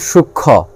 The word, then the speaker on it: সূক্ষ্ম: যেমন সূক্ষ্ম, সূক্ষ্ম ক্ষীয়র সঙ্গে মফলা আছে, এখানে ময়ের উচ্চারণ নাই।